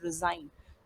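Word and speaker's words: resign: किया जाता है, तो डिज़ाइन और रिज़ाइन दोनों ही में एस का जो साउंड है वो जेड के जैसा आता है।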